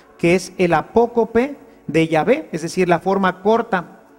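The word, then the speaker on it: Yahvé: llave y por eso nosotros sabemos que la pronunciación correcta de llave es así llave y no jehová que simplemente una una litera ción se fue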